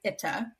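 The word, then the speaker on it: איטא: And I love the fit because it's exactly the end sound of Margarita.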